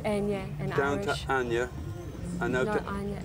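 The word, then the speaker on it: Eithne: name yeah it's Ana it's e but it's pronounced Ana in Irish Ana and now an Anya but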